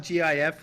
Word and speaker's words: GIF: say gif yes definitely jif it's definitely no no it's a g it's very definitely a hard g um yeah yeah i